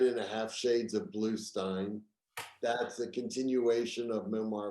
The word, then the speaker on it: Bluestein: forward slash books but you know it's it's stein even even though it's spelled s-t-e-i-n and people say well why isn't it steen i said well it's bruce springsteen e-e-n and it's feinstein not feenstein and i have